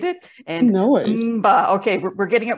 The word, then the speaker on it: Mba: Before we started this, you told me how to pronunciate it. And no worries. Mba, okay, we're getting it right.